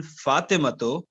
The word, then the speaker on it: Fatimatu: given a dhamma tanween, will not be Fatimatun, it will be Fatimatu.